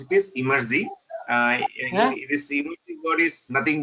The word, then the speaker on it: Emertxe: Some of them will pronounce as Emertex or Emertexi, various ways people pronounce. But the real way to pronounce it is Emerzi. This Emerzi word is nothing but if you take the word extreme and reverse, you'll get this particular word called Emerzi.